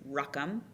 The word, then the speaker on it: Ruchim: My last name is Ruckham. Um, like Ruckham, like Stuckham.